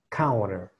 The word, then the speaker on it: counter: en inglés es un counter. Counter, ¿vale? Así que vamos a lo que serían las pronunciaciones. Ya les dije, tenemos una T que puede ser R. Tenemos una E torpe, que recordemos cómo suena.